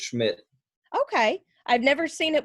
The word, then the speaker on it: Schmith: So it's Smith, or is it Schmidt? Yeah, just Schmidt.